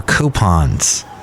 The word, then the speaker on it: coupon: customers are downloading more coupons that's right coupons and that's how you say it coupon like gray Poupon coupon okay thank you I'm